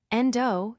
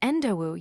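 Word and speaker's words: Endou: "Endo, you're wearing the presence-boosting artifact Hajime gave you, right?" Yue asked. "It's Endowu, Yue-san. Please don't make it rhyme with John Doe instead.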